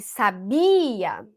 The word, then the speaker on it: sabia: Quando eu disse sabia, eu coloquei a força na penúltima.